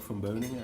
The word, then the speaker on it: van Beuningen: is van Beuningen, as we would pronounce it in Dutch.